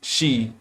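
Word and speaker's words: sídhe: became the mysterious city, or she pronounced she, or the Terrani, gods of the earth.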